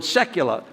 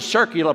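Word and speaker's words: secular: world with people now my father could never pronounce that word Sekulow and he says why don't you become a circular priest like father Berg they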